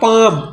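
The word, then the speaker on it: palm: जहां पी ए एल एम ह का पड़ी पाम ठीक है एच ए एल एफ का पड़ी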